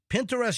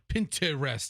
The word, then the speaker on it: Pinterest: It's not Pinterest. It's Pinterest.